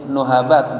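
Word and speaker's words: نهبات: Yastaqbilu ibnu Adam nahabat, ya, bidhammin nun, berarti nuhabat bacanya, wa hiya allati tughlibuhu.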